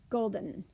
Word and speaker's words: golden: we ran into earlier, golden. How did we say the EN in golden? I kind of tell my students it's almost a swallowed sound. We say it so fast we go golden.